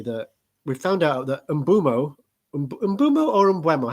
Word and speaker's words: Mbeumo: we found out that Mbeumo or Mbeumo, how do you say it? Mbeumo. Mbeumo. I do Mbeumo. Some people say Mbeumo, or some people just say Bumo, I think. I say Mbeumo.